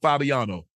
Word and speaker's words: Fabiano: say his last name Michael Fabiano uh like by Antonio see when you hear